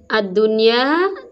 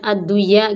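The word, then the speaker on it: الدُّنْيَا: Jadi ad-dunya tidak boleh dibaca ad-duya gitu.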